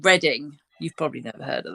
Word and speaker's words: Reading: I mean, or if you live in you say Reading, not Reading. Reading, yep. Reading. Redden.